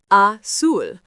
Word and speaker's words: azul: Same with azul, pronounced azul, blue.